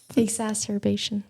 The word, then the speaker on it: exacerbation: Exasturbation. Exastasterbation. I think that's it. Excerbation. Exacerbation.